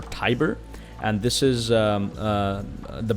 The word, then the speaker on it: Tiber: and gentlemen this here i think it's pronounced the river tibber or tiber and this is uh